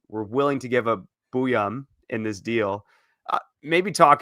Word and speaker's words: Buium: What's the correct pronunciation on Zeev Buium? Buium. It is Buium.